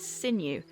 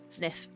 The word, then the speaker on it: Zniw: nice time looks to me like it'd be pronounced sinew yes but in the encyclopedia it says it's uh sniff because I thought it was new based on